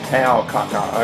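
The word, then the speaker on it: Taokaka: Tao Kaka, okay. That's how you pronounce it.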